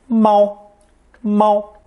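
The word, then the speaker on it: 猫: Seedling phonetic we get the common character for the cat pronounced first tone MO the phonetic meow also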